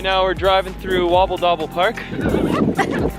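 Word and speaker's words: Vondelpark: Right now we're driving through Wobble Dobble Park. Fumble Park. Fumble? Fumble. But it's spelled with a W.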